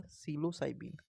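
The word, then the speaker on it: psilocybin: cyber से हो जाएगा सिलो साइबीन सिलो साइमन पी साइलेंट है इसमें हो जाएगा सिलो साइबीन य हो जाएगा सिलो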